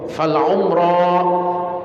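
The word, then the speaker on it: العمرى: Al umrah bi dhammil muhmala, dengan didhamma huruf ainnya, wa sukunil mim, dan disukun huruf mimnya, ma'al qasr, dan bersambung dengan alif maksurah. Ya, alif maksurah. Jadi cara bacanya harus dipanjangkan karena di belakangnya itu sebenarnya huruf alif yang berdiri tegak, itu disebut alif maksurah. Fal umrah, ya begitu cara membacanya. Fal umrah, panjangkan huruf terakhirnya.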